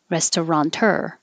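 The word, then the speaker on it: restaurateur: often is kaz kazakhstan this took me a while because i kept putting an n in there and then when i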